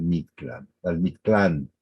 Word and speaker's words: Mictlán: El dios de los espíritus y además el que ayudaba a los muertos en su viaje al Mictlán, hasta con acento en la A.